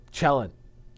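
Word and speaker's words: Cellin: Now let's go over to Chellen and I still can't decide how to pronounce that planet's name. Chellen.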